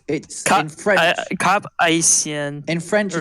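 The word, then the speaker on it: Cap-Haïtien: How do you spell it? I can't remember what it is now. Kapaysyen. I think it's Cap Haïtien. No, it's in French. Cap Haïtien.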